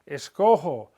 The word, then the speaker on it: escojo: The G changes to J because we need to maintain a soft G sound. And the only way we can do that in front of an O is to put the J in there.